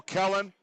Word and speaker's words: Kellen: Go, Kellen. Pronounced like melon.